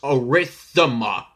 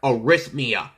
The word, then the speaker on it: arrhythmia: I mispronounced it yesterday by saying that I was a rhythm up instead of arrhythmia it's a word that